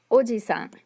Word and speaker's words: おじさん: pronounce that long vowel, there's another word in Japanese. It's おじさん. Oji-san means uncle.